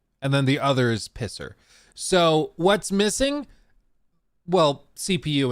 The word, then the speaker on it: PSSR: should Pioneer the pronunciation not pssr it's a pisser the PS5 Pro it